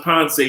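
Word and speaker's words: Pance: look up somewhere that's beautiful p-a-n-c-e cali colombia ponce it's pronounced ponce river a penance area we'll talk about some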